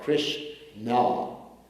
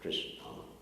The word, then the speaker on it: Krishna: Like you have Krishna, 2 syllables, Krishna.